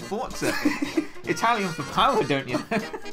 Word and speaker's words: Forza: It's actually pronounced Forza, you uncouth moron.